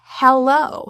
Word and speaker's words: hello: fully aspirated, meaning we're really blowing the H. It is not silent like a lot of languages. So you do want to create that auditory sound. It is truly aspirated there. In more formal pronunciation, the E in is fully pronounced. Hello, hello. That is the vowel, as in red, he.